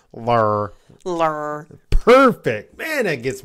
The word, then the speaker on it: Ler: Lur. And you have to say it like that. Lur. You can't say lur.